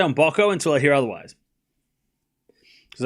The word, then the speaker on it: Mboko: Hi, my name is Victoria Embokco. Embokco. Embokco. Embo. Embokco. There we go.